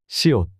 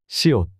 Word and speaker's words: 시옷: 시옷. S. This is pronounced like the S in sun. 시옷.